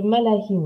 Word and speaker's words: Malachim: Alors, explique-nous juste ce que c'est que le malahim, alors. Donc, ça s'écrit malakim. Malahim, c'est le souffle des anges.